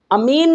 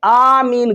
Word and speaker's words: آمین: यानी हुजूर अलैहिस्सलातु वस्सलाम ने अमीन नहीं कहा बल्कि आमीन कहा اور صحیح تلفظ بھی یہی ہے۔ رسول اللہ صلی اللہ